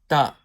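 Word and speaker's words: ت: So it's saying that ta is pronounced with the tip of the tongue touching the roots of thanaya ulya.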